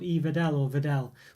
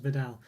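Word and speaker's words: Wedel: you'll see a chocolate company called Vedel, or it's spelled Weddell, basically, but I assume it's pronounced Vidal.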